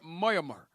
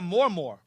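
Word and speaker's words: Mormaer: Son of Finlay, now become their Moyamur, and one of the most distinguished generals of the Scottish king. It was supported... No, they're Mormor. Mormor. It's pronounced Mormor.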